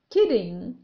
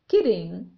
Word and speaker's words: kidding: Kidding. هنا جاء حرف D بين حرفين متحركين، أي بين two vowels. في النطق الأمريكي سننطقه مثل ما ننطق flap T، أي سننطق حرف D بسرعة. Kidding.